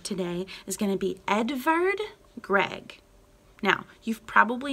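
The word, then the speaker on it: Edvard Grieg: is going to be edvard gregg now you've probably not heard his name before now edvard edward it has a v rather than a w like edward in english it's spelled that way because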